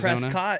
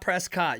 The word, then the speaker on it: Prescott: to what you're gonna Prescott it is not Prescott you better say it correctly or they'll press your